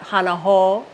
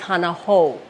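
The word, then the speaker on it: hana hou: ouu sound is there so it's not hanaho it's Hanah ho can I hear it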